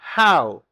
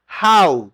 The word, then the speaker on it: How: How, escucha bien la pronunciación, repítela, que algunos estudiantes tienen problema con eso. How, como que fuera j a U. How, como saludaban los indios, ¿te acuerdas en las películas viejas del oeste?